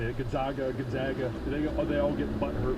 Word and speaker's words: Gonzaga: Gonzaga.